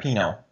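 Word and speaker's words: Pineault: I don't want to butcher it yes Alisha Pino yeah she has the most attack out of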